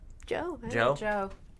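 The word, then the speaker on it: Joh: Let's decide how we want to pronounce that. Joe.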